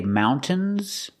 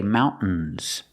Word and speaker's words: mountains: Some people say mountains and some people say mountains. Both are correct.